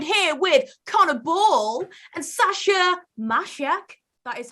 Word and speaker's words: Sasa Macek: And I'm joined here with Connor Ball and Sasa Macek. That is how you pronounce it.